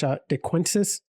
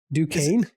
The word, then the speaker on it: Duquesne: You look at Missouri, and they're I can't pronounce DeQuince. Wow. Is it Duquesne? Oh boy, Duquesne. Holy crap. Kyle, it's French. It's fine.